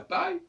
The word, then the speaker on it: paille: c'est comme ça parle si je dis de la paille la paille ça se prononce la paille parce qu'il y a